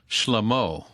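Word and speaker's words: שלמה: in Proverbs 1 1 the Proverbs of shlamo who is that wait a minute is that Groucho Marx's brother yeah I was thinking of one of the Three Stooges well that's the Hebrew pronunciation of Solomon and it says the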